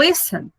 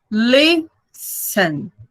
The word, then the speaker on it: listen: É o caso do listen. Tem 2 sílabas. Listen. A mais forte é a primeira.